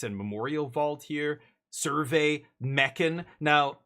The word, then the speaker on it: Mechan: Survey Meccan. Now, I don't know how you pronounce it around the uh the ham hawks uh community, but I prefer Mchan.